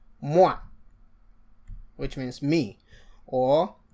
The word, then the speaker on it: moi: a preceding lesson that when you have O and I, that is pronounced wa. And so that is why we can say moi, which means me, or toi, which is you.